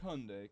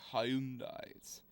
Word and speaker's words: Hyundai: hendi H cd6 yeah I'm not pronouncing it like Hyundai cuz I know how to pronounce it properly hyai it's a South Korean term hyai H yeah so